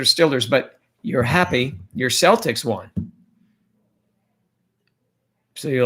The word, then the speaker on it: Celtics: How do you spell Celtics? Celtics the same way as it's spelled there. Okay, well, it's a soft C for us. All of you hard C's over there can yell all you want.